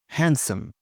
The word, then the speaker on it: handsome: Handsome. A man might be handsome. Silent D.